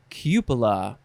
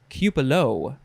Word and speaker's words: cupola: you want next is cupola or cupelo even though it's spelled c-u-p-o-l-a noun from 1549 1a